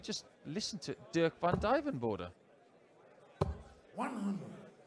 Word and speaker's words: Duijvenbode: listen to Dirk Van Dien border 100 little trick is to think of a diving board isn't it yeah speaking